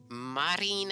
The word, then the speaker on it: Marine: what a cracker squawk they pronounce the e in Japanese they call her Marine Marine Marine dude I'll